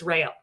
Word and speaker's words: Rayola: Jen Rayola. That's how you say her last name. A lot of people are saying, like, how do you say her last name? It's Rayola.